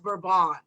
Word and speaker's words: Bourbon: And what she explained to me about the geranium is she said that it's pronounced Bourbon, Geranium Bourbon.